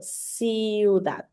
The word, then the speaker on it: ciudad: So ciudad. ciudad. Girls, So it's ciudad is how it's pronounced.